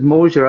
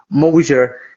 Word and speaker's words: Moasure: It does certainly have a lot of mojo, but it's pronounced, as you say, Moasure. Think of it as, I don't know, two words, motion and measure, welded together in perfect harmony.